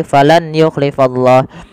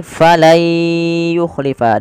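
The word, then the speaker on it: فَلَنْ يُخْلِفَ: idgham artinya memasukkan maka cara membacanya bukan lagi falan yuk yuklifallah tapi menjadi falay yukhlifa diganti suara nunnya menjadi suara ya.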